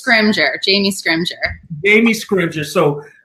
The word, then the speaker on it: Scrimgeour: Jamie and I'm gonna I don't want to mispronounce your last name so give that last name to me again it's Scrimgeour Jamie Scrimgeour Amy Scrooge's so I'm very sensitive